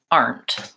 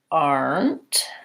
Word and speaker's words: armed: think about that armed no I think that has the AH the diphthong are so an oo and an ER so kind of like ah are our arms and then we go right from the end to the T so in this case